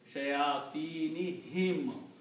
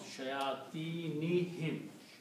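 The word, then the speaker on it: شياطينهم: Then the next change that takes place for the recitation or tajweed, we also pronounce this dhamma as a kasra to be easy on the tongue. So this is also pronounced as shayatinihim.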